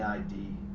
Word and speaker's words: id: In his structural model, the ID rhymes with lid, the instinctual force seeking immediate satisfaction presses upward with appetite and urge.